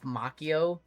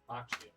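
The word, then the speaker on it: Macchio: Trying to watch RGL trying to pronounce Ralph Mchio. I'm sorry. Wonder Kids of Liner Carl for elf. I'm sorry. Machio.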